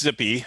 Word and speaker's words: Zyppy: so it's mostly uh so it's pronounced zippy uh z sorry it's